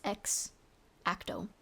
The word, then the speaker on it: X-Acto: I don't think there's an E in Xacto knife. It's X Ato.